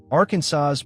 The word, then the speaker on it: Arkansas: This is official legislative language that reflects deep frustration with people who pronounce the state name like AR Kansas rhyming with Kansas.